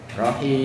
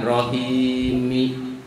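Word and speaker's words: الرحيم: Tulisannya karena diwakaf jadi rohim, jangan rohimi. Ya.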